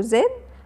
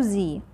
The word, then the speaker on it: Z: هنا هنحط سيركل حول حرف الزد، وحرف الزد ده يا ولاد ممكن نقوله زد او زي.